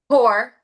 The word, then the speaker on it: Poore: Gore. just like not rich. So, I would always I was like, "Okay, it sounds like poor. It looks like poor, but then it has